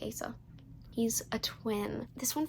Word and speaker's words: Asa: It's spelled A-S-A, so I'm going to say Asa.